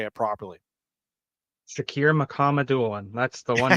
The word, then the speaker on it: Shakir Mukhamadullin: Shakir Mukhamadullin. That's the one name I thought. Shakir Mukhamadullin, I believe.